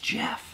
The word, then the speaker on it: G-Off: From the awesome G-Off. Pronounced Jeff.